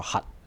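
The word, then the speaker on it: 齕: 衣個乞，咁粵語呢應該讀作闔。咁就同核桃啊、核彈個核啦係同一個讀音嘅。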